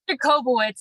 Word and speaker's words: Jacobowitz: screw it up or butcher it or it's jacobo it's a lot of people struggle with it it's